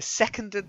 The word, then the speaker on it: seconded: a Condit second yeah okay seconded seconded not seconded seconded seconded that's better seconded the resident that the stress is on the first syllable yeah monkey seconded the